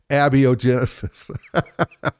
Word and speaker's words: abiogenesis: me how to pronounce abiogenesis if I'm not mistaken and I could be mistaken I think it's a biogenesis a bio gotcha yeah that makes sense with with the accent on the a a and the J